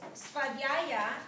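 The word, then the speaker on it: svādhyāya: And the niyamas, svadhyaya, that's how you pronounce that one.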